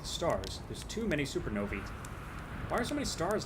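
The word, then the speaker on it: supernovae: Uh, it is pronounced supernovi. That little ae at the end. It's like encyclopedia becomes a long e sound.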